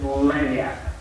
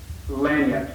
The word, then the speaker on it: lagniappe: It's lagniappe. Lagniappe. Say that with me. Lagniappe. Lagniappe.